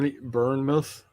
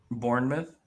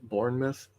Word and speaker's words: Bournemouth: heard of like britford britford yeah uh ber burnmouth Bournemouth bour Bournemouth see they can't even pronounce it right I only know it because